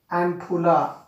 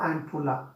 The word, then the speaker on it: ampulla: Ampulla or ampulla.